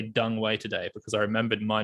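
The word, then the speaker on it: Deng Wei: I did, however, say Dung Wei today because I remembered my conversation in 2019, and you're like, dude, you know, like ENG is UNG.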